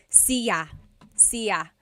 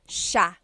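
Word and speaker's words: siya: It looks like it should be pronounced sa cia, but it's actually pronounced sha sha. So the s i y, it's a sha sound.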